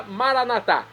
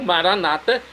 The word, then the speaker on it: Maranata: dialeto de Jesus a Maranatá. Como dizemos nós católicos, maranatá ou maranata, como dizem nossos irmãos separados das comunidades evangélicas ou protestantes. Não importa a pronúncia, o significado, é o mesmo.